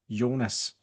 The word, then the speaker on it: Jonas: It is a soft J, not a hard J like you would find typically with it being a last name. So my name pronounced in Danish would be Yonas.